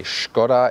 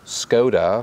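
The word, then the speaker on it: Škoda: By the way, when I say Skoda, it's closer to the original Czech pronunciation. You know that in English-speaking countries you always hear Skoda, for example, but as a tribute to the origin of this vehicle, we stay with Skoda.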